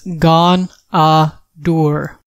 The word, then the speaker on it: Ghaunadaur: version of D&D pronunciation the official pronunciation of this daddy's name is gone door titles some of the